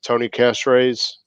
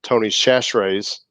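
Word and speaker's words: Tony Chachere's: for a turkey is tony cash raise actually let me say it properly tony's chashrae's cajun butter infection marinade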